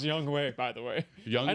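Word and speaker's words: Younghoe: bass three young hoku young hoe it really is pronounced young way by the way young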